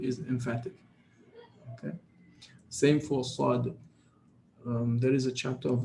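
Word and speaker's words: ص: Okay, you don't say said. It doesn't work because this sound, by definition or by nature or by the way it's pronounced, its DNA is emphatic. So it doesn't matter what comes before or after, it will always be emphatic.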